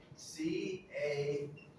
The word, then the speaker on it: calf: C-A-L-F, but we do not pronounce the L.